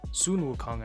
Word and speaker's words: Sun Wukong: Mikage, Alatreon, Sun Wukong, Sun Wukong, actually, that's how you pronounce it.